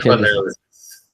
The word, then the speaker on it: psychoanalysis: Almost. The inflection. Psychoanalysis. That's it.